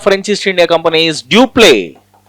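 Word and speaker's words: Dupleix: The governor of French East India Company is Dupé. Dupé X is silent.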